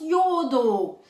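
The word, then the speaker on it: εὐοδόω: Ça s'écrit E-U-O-D-O-O, mais ça se prononce Yo-o-do-o.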